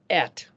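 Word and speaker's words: את: Aleph is silent, but by default it's given the eh. So Aleph Tav can be pronounced et.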